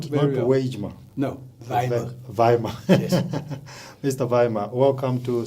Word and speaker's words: Weijmer: Weijmer. Yeah. I pronounced it correctly. Yes, you did. Yeah, not Weijmer. No, Weijmer. Weijmer.